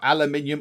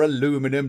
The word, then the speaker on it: aluminium: we've got 50 units of aluminium or aluminium depending on how you want to pronounce that way you are in the world so 50 units of